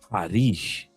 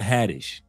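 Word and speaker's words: Haddish: And she says the pronunciation of her name is Harish, not Hadtish.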